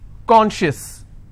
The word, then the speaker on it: conscious: not apply here ok conscious how many syllables do I have two and I will stress on corn corn shifts okay precious